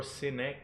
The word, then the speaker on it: Sinek: Great Sinek author. or Sinek, I don't know. I just like the pronunciation Yeah. Sinek because it sounds like a cynic.